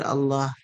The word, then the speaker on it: Allah: So if the the ayah you're reading starts with the name Allah, you pronounce the word Allah heavy because it has the a sound.